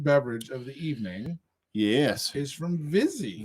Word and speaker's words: Vizzy: of the evening yes vizzy lizzy rhymes with fizzy yeah which is what